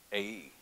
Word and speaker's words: Ai: Without knowing that that had happened, the next city they were going to take is spelled A-I, and I'll say A-E, maybe, how it's pronounced.